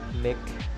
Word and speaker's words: NIC: network interface card or nic pronounced neck is a communication device